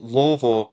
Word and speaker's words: Louisville: here in Louisville yeah so louville Kentucky not Louisville or Louisville it's a it's Louisville for the listeners out there